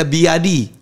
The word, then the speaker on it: BYD: mobil listrik sekarang ada biadi bacanya Ternyata byadi bukan byd ya Oh gitu by biadi tiba-tiba kita tahu oh